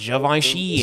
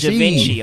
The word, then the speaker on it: Givenchy: And yes, I know it's pronounced Givenchy and not Givenchy, okay?